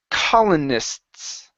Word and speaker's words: colonists: to it and then you add an extra s so when you think you're you're you're you're done and you think you have to add more stop you don't have to add anymore okay so this is colonists colonists there you go good one more time colonists